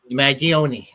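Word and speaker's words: Mangione: mag mag mag mag mag I can never pronounce this last name mag magioni there you go my Italian my apologies to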